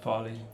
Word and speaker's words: Farley: Farley.